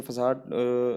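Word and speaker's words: façade: अब जैसे आप देख भी सकते हैं, तो इसमें फसादे से रिलेट करेंगे, जैसे फसाड इसका प्रोनाउंसिएशन होता है, तो फसादे से रिलेट करेंगे।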